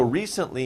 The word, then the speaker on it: recently: was recently okay so recently means it was not long ago recently a little bit difficult pronunciation re sent lee recently recently remember recent is